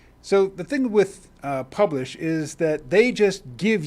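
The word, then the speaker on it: Publish0x: now publish is spelled p u b l i sh0x but i'm told the 0x is silent so it's publish 0x dot io and my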